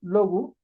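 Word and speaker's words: λόγου: Segunda declinación, termina en genitivo en este diptongo, que se pronuncia como U, omicron Y, U. Como lo hemos visto con la palabra logos, logu, pues sabemos que la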